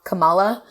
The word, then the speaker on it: Kamala: So people were calling her Kamala, but her name is Kamala.